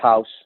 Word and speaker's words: Haus: far as your offerings sure so it's it's pronounced house Capital Corp I my president broker owner I